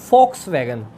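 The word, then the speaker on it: Volkswagen: बाद है 30 के दशक में, यानी कि 1930 में फॉक्सवैगन, जर्मनी की, इसको लिखते हैं VOLKAS ऐसे लिखते हैं, पर इसका जर्मनी का प्रोनाउंसिएशन है फॉक्सवैगन। तो फॉक्सवैगन ने 30 के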